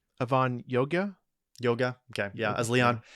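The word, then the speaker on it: Avan Jogia: Avon gorana is that you say his name Avon Yoga Yoga okay yeah as Leon anyway I think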